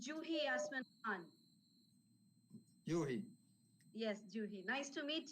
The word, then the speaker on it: Juhi: video they're setting up yeah okay my name pronounced as juhi it is j j u h i j for Japan so it's juhi yes juhi nice to meet you it's our